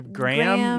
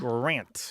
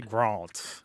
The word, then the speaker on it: Grant: a coffee nym, but Grant is surprisingly hard for people to remember. Yeah, The Graham? No, it's not. yeah. It's Grant. Yeah. Grant. Or as the British say, Grant.